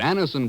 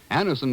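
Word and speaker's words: Anacin: what many thousands have known for years that Anison brings incredibly fast effective relief Anison is like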